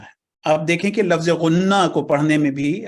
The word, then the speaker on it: غنہ: آپ دیکھیں کہ لفظ غنہ کو پڑھنے میں بھی اگر ہم اس کو صحیح تلفظ سے پڑھیں غنہ، تو یہ لفظ غنہ